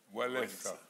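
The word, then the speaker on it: Wałęsa: Walesa.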